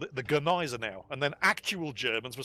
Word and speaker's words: Gneisenau: You must pronounce the G. So in my next video, I called it the Gneisenau.